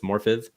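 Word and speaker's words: Morfydd: of course played by morphith clark spelled with 2ds but it's morphith um love that welsh alphabet he's got the classic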